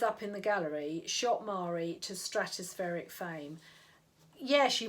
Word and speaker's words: Marie: a bit more memorable mari rhyming with starry and lloyd well that